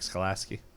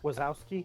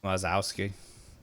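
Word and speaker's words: Wazowski: all and then uh you John uh Mike skolaski Ki how do you say his last name wasowski wasowski all right and then let's see I got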